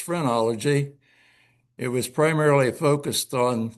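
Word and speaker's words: phrenology: Um we talked about a bump on your head and that is almost spelled like phenology but it's frenology.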